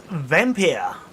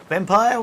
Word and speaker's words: Vampyr: This is Vampyr. Vampire, whichever way you wish to pronounce it.